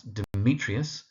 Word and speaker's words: Demetrius: So that's Demetrius second syllable emphasized Lander second syllable Oberon first syllable and Titania which is on the second syllable.